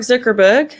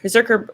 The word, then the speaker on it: Zuckerberg: work anyway um mark zuckerberg berserker how do you say his name thank you zuckerberg zuckerberg he and um